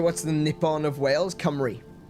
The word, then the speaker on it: Cymru: And so the country is called Cymru, spelt C-Y-M-R-U, Cymru, because our vowels are different to English.